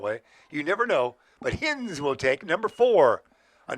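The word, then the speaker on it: Hinze: to be uh hinge you're calling h-i-n-z-e hens yeah I went to school with Phil Hines he spent it the same way he said it the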